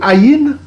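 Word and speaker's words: עין: On vous a dit le Aïn est silencieux, silent. En paléo-hébreu, c'est silent. C'est silencieux, quoi. Donc, on ne va pas prononcer le Aïn.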